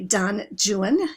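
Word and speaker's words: Don Juan: So the first film that ever had a soundtrack was in 1926 the movie Don Jan, yes that's how you pronounce it with John Barrymore and it was an extremely successful experiment.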